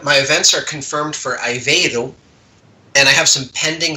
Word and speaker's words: Aveiro: But I will be visiting the University of Aveiro for a concert and a clinic.